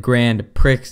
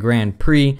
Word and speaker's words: Grand Prix: Apparently last time I said Grand Pricks instead Grand Prix. I never knew that's how you pronounced it and I got roasted beyond roasted in the comment sections.